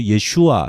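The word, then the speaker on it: ישוע: 여기 가져왔는데 He 요레뎃 벤 베아타 티크라 슈모 예슈아.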